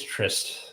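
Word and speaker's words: tryst: yeah yeah yeah whatever I thought it was still pronounced like trust anyways nope it's trist it's like a old timey word for an affair I know what the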